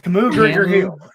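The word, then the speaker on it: Kamu Grugier-Hill: Camus Gruger Hill.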